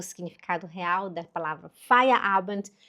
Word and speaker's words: Feierabend: Palavra de hoje é fire abent. Você consegue repetir? F abent.